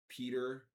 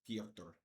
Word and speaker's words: Petr: best of my ability, Petr Yan. Petr. But a lot of people say like Peter or uh uh uh Petra but uh I believe the correct pronunciation of it in Russian is Piotr Piotr Yan.